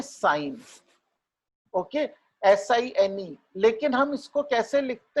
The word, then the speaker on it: sin: पहली रेशियो का नाम है साइन, ओके, SINE, लेकिन हम इसको कैसे लिखते हैं, SIN, स्मॉल में SIN followed by the name of the angle, okay, and we pronounce it as sin A.